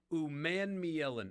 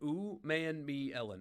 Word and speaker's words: Umanmielen: Princely Umanmielen, I believe is how you say it. Umanmielen, I believe.